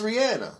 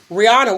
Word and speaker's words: Rihanna: That same thing with Rihanna. Yeah, some say Rihanna, some say Rihanna. She says it's Rihanna. I believe it's probably Rihanna. Like, stop calling me what ain't my name. Rihanna.